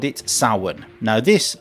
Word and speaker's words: Samhain: So the ancient Celts called it Samhain. Now this word, Samhain, is spelt Samhain. Just to confuse people even more, the spelling and the pronunciation are completely different.